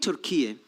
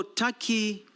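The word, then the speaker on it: Türkiye: Now about Turkey, I'm surprised by the comments made by... It is not called Turkey, it's Turkey. It's only written Turkey, but it's pronounced Turkey.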